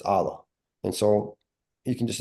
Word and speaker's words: Alaa: name like and again most people can't say my name with with the the letter in Arabic um it's Allah and so you can